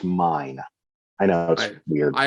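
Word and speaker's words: Myne: to the shield hero her name is pronounced mine i know that's weird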